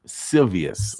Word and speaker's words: Silvius: Silvius. Okay. Silvius, Okay. yes. All right, like Julius. Silvius.